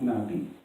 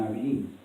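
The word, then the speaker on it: נביא: And it's pronounced Nabi. And like, you know, Nabi.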